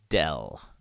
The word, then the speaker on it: del: That funny upside down triangle, that is a character called del. That's how it's pronounced, that's how it's spelled, and that is this operator here.